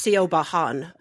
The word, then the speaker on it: Siobhan: We could talk a little bit how Siobhan is not spelled how you think it's spelled. Yes, Irish it's Siobhan.